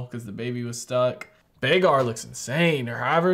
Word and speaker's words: Vhagar: Bagar? She said it was the biggest dragon, right? Vhagar.